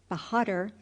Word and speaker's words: Bahadur: It sounded something like this, Yezonkai Bahadur, with the accent on the last syllable, Bahadur, and the A sounded like A in hark.